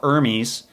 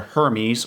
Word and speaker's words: Hermes: I'm gonna be talking about armies and/or Hermes or armies depending on which country you're from and which time period you're living in those are the different pronunciations and I'm definitely not